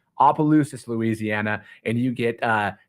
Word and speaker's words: Opelousas: have um San Diego going to opa-lockas Louisiana and I'm pretty sure that's how you pronounce it Appaloosas excuse me Opelousas Louisiana and you get